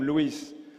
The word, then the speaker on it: Luis: I'm sure that after eight months Adnan has been able to pronounce correctly Lewis. I'm sure at the end of this week he will be able to use and to add at the end. My name is Luis.